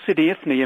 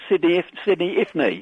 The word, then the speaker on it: Sidi Ifni: I went to this place called Sidi Ifni in Morocco about 10 years ago.